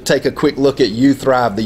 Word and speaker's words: uTHRiV: a few million times at you thrive we say it like this if you thrive I thrive and I